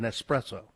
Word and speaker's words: espresso: Oh, it's not an espresso. It's an espresso. There's no X in it at all. There's not. It's espresso.